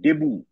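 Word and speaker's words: debut: ফরাসি শব্দ French word ডেবু টি এর উচ্চারণ সাইলেন্ট টি এর উচ্চারণ থাকবে না এটা সাইলেন্ট এটা ডেবুট নয় দেবু জয় একার বয়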